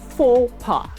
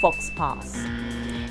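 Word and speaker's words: faux pas: usually social or political it is spelled f-a-u-x space p-a-s and pronounced four-part not fox pass a private conversation between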